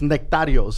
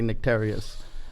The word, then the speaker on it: Nektarios: and and in spann in our Greek it's nektarios is how they were pronounce it but in English would be nicked arias but yeah of Aegina